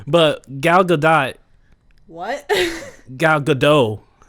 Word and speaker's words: Gadot: Gal Gadot. No, it's Gadot. She pronounced it dot.